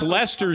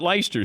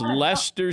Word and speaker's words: Leicester: So and it's Leicester City. It's not Leicester City. It's Leicester City.